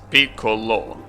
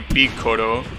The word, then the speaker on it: Piccolo: Piccolo in English is Piccolo, with like an L sound, right? In Japanese, obviously, since they don't differentiate between the L sound and the R, they say Piccolo.